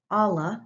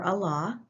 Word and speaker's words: Allah: in 610 ad and Allah or Allah pronounced both ways revealed to Muhammad through